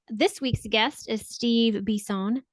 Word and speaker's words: Bisson: This week's guest is Steve Bisson. Did I say it correctly? I love it. I love it. Okay, cool. Because it is French and I make sure I want to say it correctly.